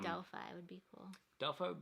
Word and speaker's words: Delphi: Yeah, I think Delphi is probably how it's supposed to be pronounced, but a lot of people call it Delphi. Kind of like the car company, Delphi.